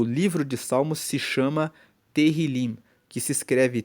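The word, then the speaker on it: Tehilim: Tanto que no texto original, na Bíblia, no hebraico, o livro de Salmos se chama Terilim, que se escreve T E H I L I M.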